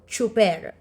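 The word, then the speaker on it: tsuper: driver in Tagalog is is pronounced as like CH so chuper okay the next picture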